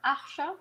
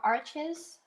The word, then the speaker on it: Arches: Okay, so I used for paper arche or arches, however you want to pronounce it.